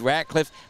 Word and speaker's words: Ratcliffe: In my defense, the roster has it R-A-T-L-I-F-F-E. There is no C in there, and I've got to believe that it would be difficult to pronounce it Ratliff when it's indeed Ratcliffe, but in my humble